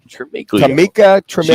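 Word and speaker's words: Tamika Tremaglio: Tamika Tremiglio.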